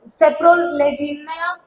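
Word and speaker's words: Saprolegnia: Okay, ये थोड़ा सा आपको प्रोनाउंसिएशन सीखना होगा. देखो मैं एक बार और वापस से बोलती हूँ. सेप्रोलेजिनिया, राइजोपस, म्यूकर, एल्ब्यूगो एंड फाइथियम.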